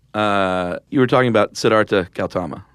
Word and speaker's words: Siddhartha: name was Siddhartha guatama did you know that actually Siddhartha okay so the H is silent uh galtama nice yes